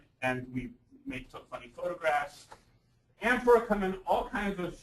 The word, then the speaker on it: amphora: The emphasis goes on the am at the beginning and not the phora at the end, which I, of course,